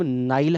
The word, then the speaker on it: Nile: जैसे अभी मैंने नाम लिया कि नील नदी, उसका नाम नाइल है, NILE, हम उसको हिंदी में नील प्रोनाउंस करते हैं।